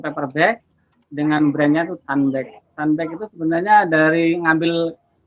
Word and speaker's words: Sunbag: Jadi ya memang harus dibaca pakai ini ya, pakai ejaan, pakai accent Inggris ya, Sunbag.